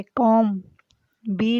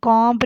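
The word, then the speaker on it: comb: उससे ये अगला लफ्ज़ जो है वो भी इससे मिलता जुलता ही है, जैसे कि कॉम, बी लिखेंगे, पढ़ेंगे नहीं, कॉम्ब नहीं इसको पढ़ेंगे, कॉम पढ़ेंगे।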